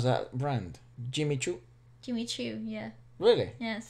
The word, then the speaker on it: Jimmy Choo: you pronounce that brand jimmy choo jimmy choo yeah really yes or is jimmy no no it's not an s it's a c jimmy cho had an obsession with